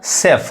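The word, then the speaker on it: chef: होता है तो देखिए जहां भी आपको सी एच e ए दिखाई दे यानी सी एईएफ यह क्या पढ़ता है सेफ अब इसको चेफ नहीं कहेंगे सेफ शफ क्या होता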